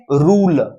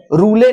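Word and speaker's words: rule: अर्थ नहीं होता जैसे रूल उल रूल रूले नहीं है रूल है इ का कोई अपना अर्थ नहीं है इ का कोई अपना उच्चारण नहीं है अर्थ नहीं है उच्चारण ही नहीं है ट जूनन ट्यूब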